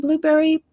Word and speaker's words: Blubrry: And Blueberry PowerPress, which is it's spelled BLUBRRY, PowerPress.